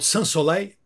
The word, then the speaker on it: Sans Soleil: take to it as well let's talk about SLE is it the right pronunciation SLE yeah I think it's a heat